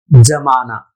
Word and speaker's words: ज़माना: के ऊपर एक रखना मगर यह ज़माना ज़माना यहां पर उच्चारण जज-जज जरा नीचे से है तो जमाना का मतलब